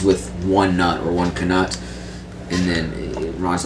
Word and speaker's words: knut: So it says, according to the LexiCon, the coin is actually pronounced as knut.